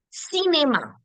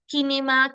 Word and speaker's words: cinéma: Am I saying que, kinema, kinya, kitron, and merci? No. Why? Because the C, when followed by E, I, and Y, will give me the S sound.